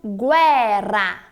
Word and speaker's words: guerra: em italiano não tô a diferença na letra R é um som mais tremido vou falar novamente observe